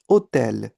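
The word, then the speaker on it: hôtel: पर वर्ड्स के साथ में इट इज़ ऑलवेज म्यूट। जैसे for example this word H ओ टी ई एल। हाउ डू you pronounce it? ओतल एच ओ एम एम ई ओम।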